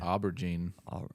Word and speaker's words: aubergine: chips or is it like I'll let you pronounce this word um I'd rather not Albert Jean aubergine okay u-b-e-r-g-i-n-e yeah that's interesting I'd like to